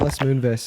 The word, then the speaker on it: Les Moonves: Les Moonves is, by the way, how you pronounce his name.